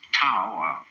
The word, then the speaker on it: Tao: it's called Daoism this character in Chinese is pronounced da Tao you would think it was pronounced TA or to but we've romanized Chinese in such a